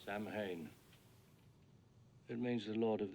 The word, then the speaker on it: Samhain: In Halloween 2, Michael writes the word Samhain on the board at the school, even though Loomis pronounces it wrong. Samhain.